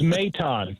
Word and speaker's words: Mayton: So it's Mayton, just so you know.